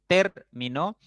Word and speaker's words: término: Por ejemplo, en término, la sílaba fuerte o el acento recae en ter, ¿no?